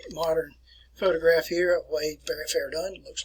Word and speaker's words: Verdun: It is pronounced as Verdun. Verdun. If you were in class here, I'll show you an article here about Verdun.